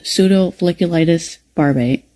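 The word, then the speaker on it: pseudofolliculitis barbae: A lot of black people who have facial hair suffer from a condition called pseudofolliculitis barbate.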